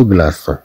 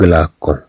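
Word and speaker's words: glaçon: في حالة كلمة لو غلاسون، لو غلاسون، بدون هاد السيديل سننطقها لو غلاكون، لو غلاكون.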